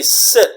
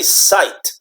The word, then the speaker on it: sit: mopping ah okay and same thing was sit we say sit we don't say site okay I site down no I sit down right and same thing